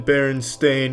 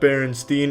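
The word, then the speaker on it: Berenstain: It's always been Baron Stain, not Baronstein. Everyone, every everyone every they all want to pronounce it Stain, but it's Stain. Ever since I was a kid, they call me Steen. It's Stain, though.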